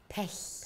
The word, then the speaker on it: Pech: of this, by the way, that you are pronouncing her name, Frau Pech. Pech. Pech.